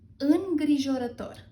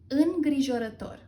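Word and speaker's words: îngrijorător: So the correct pronunciation is gri jo ra tor ingrijorator ingrijorator ingrijorator All right, and we move on with in love.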